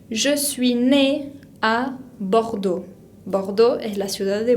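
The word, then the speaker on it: Bordeaux: de francia bajo todo termina con x que no pronunciamos y tiene la combinación de a y que se pronuncia o restringe a boudou recibí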